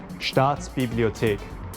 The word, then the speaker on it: Staatsbibliothek: Staatsbibliothek.